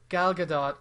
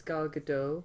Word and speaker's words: Gal Gadot: I think it's Gal Gadot. No, she says you need to pronounce the T. She's from Israel, by the way. Okay. Yeah. So Gal Gadot.